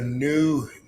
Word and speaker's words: Knew: It's called the New Network. The New Network. But it's spelled KNEW. Oh, like I knew.